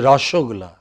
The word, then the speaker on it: rasgulla: yeah right you know it is rashogullah no it's not rasgulla and there is still